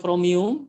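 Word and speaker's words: Chromium: Microsoft kini dikembangkan dari basisnya kromium bebasnya kromium bacanya kromium Chrome dari Chrome Zink disempurnakan ya Eh dikembangkan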